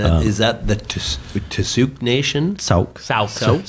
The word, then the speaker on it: Sooke: Sooke. Sooke Nation. Is how you pronounce it.